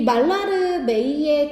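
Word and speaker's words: Mallarmé: 말라르메이의 조언. 시인 말라르메이의 조언. 말라르메이라고 발음하면 돼요.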